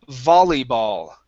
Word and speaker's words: volleyball: Next word here is the word volleyball, okay. The O at the very beginning and the A at the end are going to have the same sound.